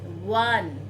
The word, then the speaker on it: one: Now children, with noun that start with a consonant sound word such as eureka, one, unique, are pronounced with consonant sound, and W, though they